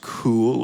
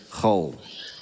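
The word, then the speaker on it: Khuul: just learned this year is not pronounced cool or anything like that it's Hull Hull oh I heard a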